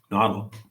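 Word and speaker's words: Nahuatl: Nashi said, um uh I always get the pronunciation mess messed up here. Nodle. Nodle.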